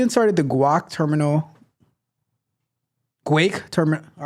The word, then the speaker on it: guake: pronounce this terminal right it is not guac it is Quake like Quake but with a G not cake but Quake